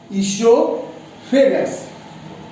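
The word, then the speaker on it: oesophagus: दूसरा है इसोफेगस, ओ इसमें साइलेंट है, वो बोला नहीं जाता है, इसोफेगस।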